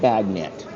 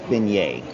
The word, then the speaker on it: beignet: It sounds like baget, but it's beignet.